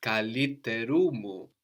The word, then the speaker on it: καλύτερου μου: And then because we have the mu there, it's going to come up again to join kaliterumu all together.